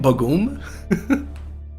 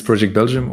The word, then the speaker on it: PROject_Belgium: casters might use this how do you say the other way that people say your name bagoom yeah so either it's project belgium or it's boo boogum all right i'll make